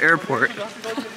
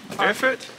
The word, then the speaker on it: Erfurt: I'm so sorry. Erfurt? Erfurt. Erfurt. Erfurt. Like Frankfurt? But Erfurt.